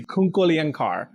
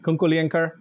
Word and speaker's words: Kunkolienkar: Kunkolienkar. Is that right? Kunkolienkar? The Kar is a soft sound, right?